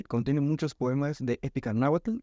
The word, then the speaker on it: náhuatl: Sí, contiene muchos poemas de épica náhuatl o náhuatl según la correcta pronunciación, pero nos vamos a centrar en el